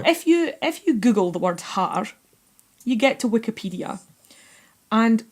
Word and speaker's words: haar: And if you want to be obnoxiously Scottish and roll your R's, Haar is, it's fantastic.